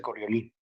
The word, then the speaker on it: Coriolis: complementaria o de coriolis se escribe coriolis pero se pronuncia corrió link lo que les pediría